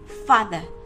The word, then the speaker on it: father: À, trọng âm của này rơi vào từ fa nên đọc là father.